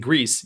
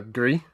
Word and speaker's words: Gris: I call it uh Gree because every time I call it Greece, I picture John Travolta and I don't want to do that anymore.